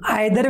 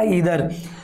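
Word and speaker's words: either: इधर और, देखिए आइदर भी बोलते हैं कई बच्चे, लेकिन राइट प्रोनाउंस होता है इसका इधर।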